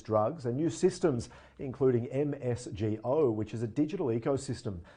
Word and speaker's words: MSGo: more what is msgo exactly so uh we pronounce it msgo msgo is um co-create co-developed by rxmx and